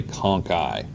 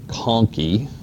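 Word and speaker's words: conchae: or some people say conai AE on the end those are Latin words and the CH is pronounced with a K you'll run across that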